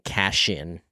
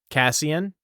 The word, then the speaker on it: Cassian: yes cashion and azreel you keep weirding me out by saying cashen cashian how do you say it Cassian what that I mean I I cashew I'm saying yeah I'm I'm saying Cassian because that's how they say it in the audio book uh which I doesn't always mean it's it's correct but hey azreal is